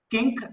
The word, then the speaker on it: kink: Sir, last time I am pronouncing kink as king or ink. It is kink, K-I-N-K, kink, not Raja.